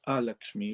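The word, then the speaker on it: Alakshmi: is which is uh a lakshmi not like lakshmi as we spell it a lakshmi with an a at the front goddess of misfortune and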